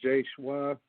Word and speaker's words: J-SHWA: Is it J-SHWA? Absolutely. Thank you guys so much for having me on. Yes, it's J-SHWA, and it's a pleasure to be here, listening to you guys.